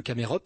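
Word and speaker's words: Chamaerops: palmiers vraiment très robustes c'est le camerops ça s'écrit chamerops le trakyarpus et le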